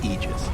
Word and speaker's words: Aegis: that is okay so the correct pronunciation technically speaking of ages is aegis this it's a literal